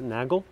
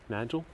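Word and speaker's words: Nagle: that's weird here we have oh look at this nano nagel don't pronounce that naggle nagil set up one of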